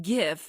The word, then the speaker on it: GIF: be insured of copulation the word gif is pronounced with a hard G like the word graphic failure to do so